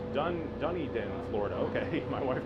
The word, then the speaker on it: Dunedin: look right across the street okay so you pronounced it here it's done Dunedin Florida okay might want to throw up they're